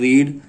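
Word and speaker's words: read: पढ़ना की क्या होती है, रीड। इसकी एक ही तीनों अवस्था एक ही होती है, रीड, रेड और रेड। प्रोनाउंसिएशन बदल जाता है बस इसका।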